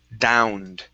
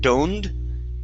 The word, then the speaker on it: downed: Um next up is the word downed. Instead of doned, da. Downed. Downed.